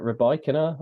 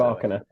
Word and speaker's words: Rybakina: So you're going to go with the bike, and I'm going to go with the bark, the dog bark. That's the way I'm going to pronounce it. Rybakina.